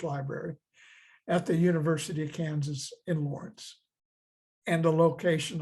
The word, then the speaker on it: Kansas: people of the Southland Kansas is from the English spelling so we pronounce the final s the French however left